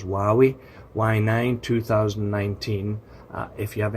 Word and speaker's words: Huawei: my thoughts on the hawawa or it's not Hawaa because you know it pronounced h i think is why we y9 2019 if you